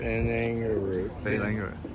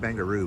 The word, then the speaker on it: Barangaroo: Barangaroo. We call it Bangaroo, but it's not Bangaroo. It's Bangalore.